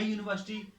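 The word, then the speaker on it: university: तो हम लिखेंगे ए यूनिवर्सिटी, क्योंकि उसका जो यहाँ पे जो साउंड है date is वाई ओ यू जैसा है, यूनिवर्सिटी, ए यूनिवर्सिटी.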